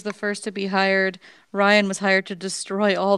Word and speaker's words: Rian: Ryan was hired to destroy all the IPs created by JJ. Oh, is that how you say his name is Ryan? I thought it was Rain.